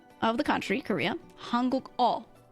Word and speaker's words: 한국어: Hanguk-o. O literally just means like language. Ono is a language. So Hanguk-o is the language of Korean. So you say Hanguk-o is your subject, and you say 못해요.